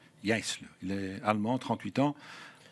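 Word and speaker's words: Jaissle: Le successeur des D, c'est Mathias Yisle. C'est comme ça qu'on le prononce. J'ai été vérifié. Yisle, il est allemand, 38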